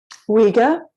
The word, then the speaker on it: Uyghur: The Uyghur, is that right? Uyghur. Uyghur. Oh, Uyghur. Is that how you spell it? That's one way of spelling it. There we go. Student Mandarin Chinese, Uyghur, and Russian.